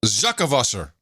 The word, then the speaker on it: zakkenwasser: Zuckavusser. Zuckavusser? Yeah, Zucken. So it's you don't Zucken. It's ZAKKENWASSER. You don't pronounce the N, so it's Zuckavusser.